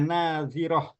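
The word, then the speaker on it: ناظرة: Yang kedua ila rabbiha nazirah. Yang kedua itu ujung lidah di antara dua gigi. Nazi, zi, zirah.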